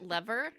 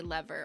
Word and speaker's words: lever: Is it lever? I feel like you could say lever or lever.